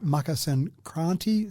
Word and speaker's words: Makar Sankranti: So, and again, the pronunciation, I'll go with yours one, the Makar Sankranti sounds pretty good.